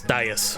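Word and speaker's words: dais: the dude's standing on is apparently called a Das, I think. So, I think that's how it's spelled. Let me see. It's a big stone disas. Yep. D A I S. Das.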